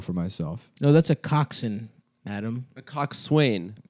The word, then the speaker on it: coxswain: myself no that's a Coxon Adam a coxswain I think it's a Coxon maybe it's pronounced Coxon but it's co x SW AI n right yeah yeah I